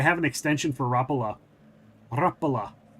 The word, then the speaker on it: Rapala: Rapala. That's how I was told it was pronounced, which is a fishing lure with the little hooks on the bottom.